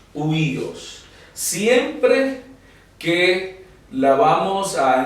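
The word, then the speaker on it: υἱός: lo tanto débil y esa o queda muda Y en vez de decir oh Dios Entonces nosotros vamos a pronunciar solo el sonido de la epsilon en vez de decir oh Dios es huíos huíos siempre que la vamos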